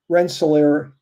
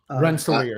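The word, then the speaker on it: Rensselaer: or like uh Renelair, Indiana. Did I say the word right? Renis. Ren, I think so. Yeah, Renelier. You said it right.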